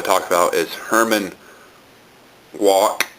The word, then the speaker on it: Wouk: talk about is herman walk i might be pronouncing that wrong his last name is spelled w-o-u-k my favorite book of